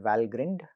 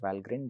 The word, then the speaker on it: Valgrind: In fact, there is a series of tools called Valgrind. Apparently it's pronounced Valgrind and not Valgrind, which is primarily sort